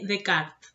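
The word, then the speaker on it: Descartes: leyendo lo relaciona con rené de kart antes de cartes se pronuncia de francés ya lo vamos a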